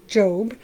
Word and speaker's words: Job: We are in the book of Job, and not spelled Job, but it's pronounced Job.